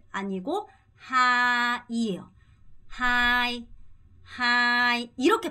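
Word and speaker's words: hai: 으야 되고요 자 두 번째 이거 할 때도 하이 아니고 하이에요 하이 하이 이렇게 발음 하셔야 됩니다 그럼 다시 한번 해 볼게요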